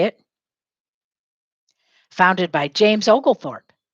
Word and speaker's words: Oglethorpe: it founded by james oglethorpe say it founded by james oglethorpe founded by james and his name is spelled og lee thorpe using or ag lee thorpe oglethorpe refuge for debtors and